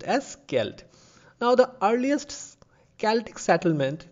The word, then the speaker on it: Celt: has a c rather the c is replaced by k in the pronunciation and it is pronounced as skelt now the earliest celtic